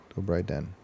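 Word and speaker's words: Dobrý den: How do we pronounce the Dobry? Dobry Den? Dobry Den.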